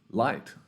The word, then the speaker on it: light: more like this so This GH is silent where else do we see that well night we see that in light we see that inside oh my God kids rhyming uh we see this in height we see this in might when we talk about I might